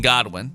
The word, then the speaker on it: Godwin: There's one O in Godwin and they say good one every time.